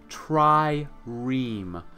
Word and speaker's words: trireme: Someone helped me yesterday pronounce this correctly. It's a trireme.